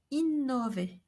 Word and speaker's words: innover: When followed by a V, we should pronounce an open O, innover.